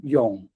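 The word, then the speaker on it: 永: This character is is pronounced yong which is mean alternative.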